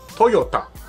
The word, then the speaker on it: Toyota: world not just Japan it is Toyota in Japanese is actually Toyota it goes down now the company name Toyota comes from the original